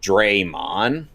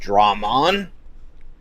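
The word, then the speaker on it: Machinedramon: Draymond. Machine Dmon. Yes. Even though it's never been pronounced Draymond, it's always been pronounced Drammond.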